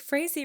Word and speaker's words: Frazee: Okay, well, I was going to say like Frazee rhymes with crazy.